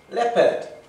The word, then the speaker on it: leopard: Okay, so we've coloured in the word leopard. Coloured in light blue. L E O P A R D. Leopard. Leopard. We don't really say the O in English.